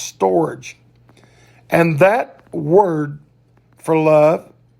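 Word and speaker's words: storge: love and it's called it is called storage s-t-o-r-g-e pronounced storage and that word for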